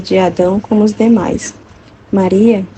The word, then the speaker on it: Maria: Maria, pronunciado com acento latino, Maria, significa mares, porque foi o oceano das graças e dons da divindade.